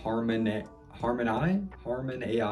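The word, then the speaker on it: Harmonai: One example is a AI tool to generate music called Harmon AI. It's supposed to be Harmony, but it's spelled with AI at the end.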